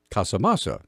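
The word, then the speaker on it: Casamassa: Forest Service associate deputy chief Glenn come Casa masa Casa masa there we go that's how it's pronounced justified yesterday before the Senate Energy and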